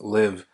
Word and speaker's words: Liv: brand very good um Liv kind of means just to live and that's how it's pronounced live um I think you